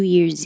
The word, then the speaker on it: Year's: It looks like an S, but it sounds like a Z and it will connect to the E. New Year's Eve.